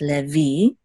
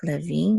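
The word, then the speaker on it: לוי: V Le V and accent is on the last syllable so it's Le V okay this is the accent Mark Levine instead of Levi in English now and you said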